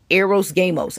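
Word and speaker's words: hieros gamos: In the occult world, they call it, was it Hyros Gamos or Gamos? Eros Gamos. I'll spell that for you guys.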